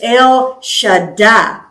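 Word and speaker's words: El Shaddai: God almighty this is L sh die anytime you have a word in Hebrew that has two consonants double consonant the the uh emphasis is on the second part like Betty would be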